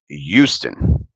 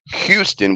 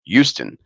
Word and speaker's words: Houston: And yeah, it's Houston, not Houston with an H. The H is silent, and it actually sounds more like Y. So it's Houston.